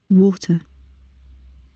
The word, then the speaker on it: water: Miren que en el caso del inglés británico, que es el azul, la R está entre paréntesis. Eso nos indica que puede o no ser pronunciada. Sí, cuando la pronunciamos solo, la palabra sola, sin ninguna palabra luego, sonará hasta este sonido de la vocal.